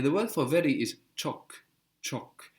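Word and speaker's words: çok: word for very is chalk chalk it's spelled c with a little tail on the C which gives us the equivalent to c h in English Okay chalk CH so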